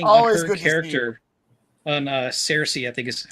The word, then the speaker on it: Saoirse: I do want to say a quick thing Always on her character, on Saoirse, I think is how it's pronounced. Saoirse.